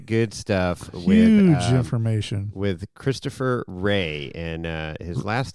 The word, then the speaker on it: Christopher: With Christopher Ray, and his last name Rea.